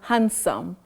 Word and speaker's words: handsome: is it handsome or handsome I'm not saying he is so oh hand no hand no you say hand that D is not pronounced in that word Betty you say handsome